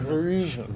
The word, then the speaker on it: Varisian: It's like Parisian, but Varisian.